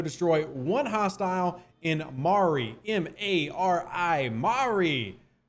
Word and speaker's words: Mari: M-A-R-I. Mari. Not Mori, where they go for DNA tests, but Mari. Which actually, that might be how it's pronounced.